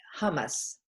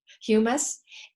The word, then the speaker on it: humus: a little further uh earth is hummus humus sorry humus and the word humus